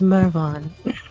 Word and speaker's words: Mervon: The pronunciation. MV MVON. Mvon. This character's name is Mervon.